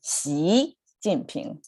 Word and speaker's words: Xi Jinping: Last time we talked about Xi Jinping, which is the president of China, President Xi, right? So that's how we hear his name sound in the media here, President Xi, but it's actually Xi Jinping.